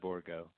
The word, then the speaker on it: Borgo: I mean, no one says it that way in the United States. Everybody just says borgo. So just like the phonetic spelling of it that I'm using, it's pronounced the same way.